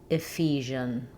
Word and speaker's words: Ephesians: Start on the stress syllable. Fion. Ephesians.